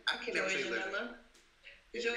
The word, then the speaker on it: Janela: Joey Janela. Joey Janela, but it rhymes with Vanilla.